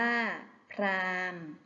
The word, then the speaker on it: พราหมณ์: หีบ อยู่ กลาง คำ บาง คำ แม้ ไม่ มี เครื่อง หมาย ทันต กำกับ ก็ ไม่ ออก เสียง เช่น พราหมณ์ อ่าน ว่า พราหมณ์ พรหม อ่าน ว่า พรหม